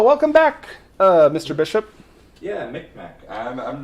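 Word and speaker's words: Mi'kmaq: It's pronounced Micmac.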